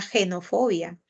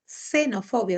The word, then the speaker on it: xenofobia: ya ya entend Claro en la palabra xenofobia por ejemplo no suena genofobia que si sonara genofobia tendríamos que representarla con ese símbolo también no Entonces es una palabra que se escribe con la letra X como tal pero suena como alveolar no xenofobia O sea la lengua al alveolo Un poquito más arriba